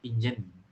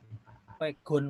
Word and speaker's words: Pegon: Nah, ini pertama itu diisi oleh Pak Fai dari teman kita nih, asik mengetik pigeon, pigeon ya. Pegon, Pak. Pegon ya. Iya, bacanya Pegon itu. Huruf aksaranya Arab tapi dibacanya Jawa, Pegon.